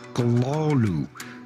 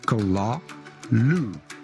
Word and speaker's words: Cthulhu: But the short answer is that this word ought to be pronounced Kalalu. Kalalu.